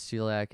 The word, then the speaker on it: celiac: I'm not sure if I said CSE, because celiac is spelled with a C despite it having a S sound.